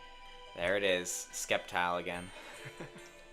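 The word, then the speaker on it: Sceptile: Skeptile again. Well, yeah. That's how you're supposed to pronounce it.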